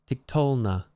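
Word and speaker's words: תִּקְטֹלְנָה: Tiktolna. Note where the accent is on this one. It's not on the end.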